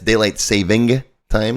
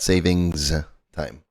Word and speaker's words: daylight saving time: daylight saving time and it's daylight saving time not savings time I know I catch myself saying it wrong from time to time